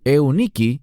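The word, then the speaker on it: Εὐνίκη: Y tu madre, Eunice, que literalmente en griego es Euniki y significa la buena victoria.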